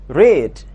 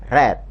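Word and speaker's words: read: to stay membaca a rich grade bentuk ketiganya adalah red perhatikan bacanya Ya kalau bentuk pertama dibaca Rich sedangkan bentuk kedua dan ketiga dibaca red tulisannya sama namun bacanya yang berbeda Hai selanjutnya How to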